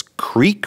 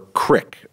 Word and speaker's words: creek: There's no right or wrong answer, but have you always identified it as creek or crick, or does it depend?